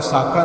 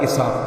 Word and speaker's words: اسحاق: یعقوب نہیں۔ کسی کا نام اسحاق ہے تو ساکا نہ کہیں، اسحاق کہیں۔ کسی کا نام یونس